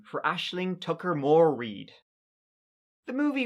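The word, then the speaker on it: Aisling: by the way Ashling it's an Irish name and it's pronounced Ashling not easiling like everybody I watched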